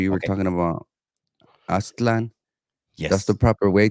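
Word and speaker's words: Aztlán: talking about Aztlan. That's the Yes. proper way to pronounce it. A lot of people say Aslan, Mhm. but it's not.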